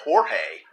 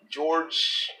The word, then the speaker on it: George: It's not Jorge. It's George.